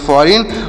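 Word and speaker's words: foreign: अगला शब्द क्या है एफ ओ आर आई आर ई आई जी एन तो यहां पर भी जी साइलेंट है यानी इसे नहीं पढ़ेंगे तो इसे क्या पढ़ेंगे से पढ़ेंगे फ या फ से फ आर ई आई से पढ़ेंगे ऋ एन से पढ़ेंगे न तोसे पढ़ेंगे फॉरेन और फॉरेन मतलब क्या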